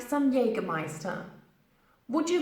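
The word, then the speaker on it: Jägermeister: lot different to the Germans in English we pronounce it as Jenny gonna biased on Jagermeister you may even hear people using yaga yaga just for short because Jagermeister is just simply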